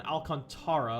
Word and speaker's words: Alcantara: got out an outfielder kevin alec alcantara i apologize kevin alcantara i believe is how you pronounce it and then right-handed